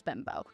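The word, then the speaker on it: Bembo: I've looked it up and how to pronounce it. His last name is Bimbo.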